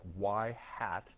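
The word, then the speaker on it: ŷ: that's pronounced like y hat and homework's not going to like that y hat either.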